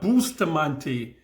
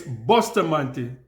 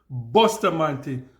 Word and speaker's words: Bustamante: pronunciation right it's not booster Mante it's Buster man that's How Jamaicans pronounce it Buster man so that is the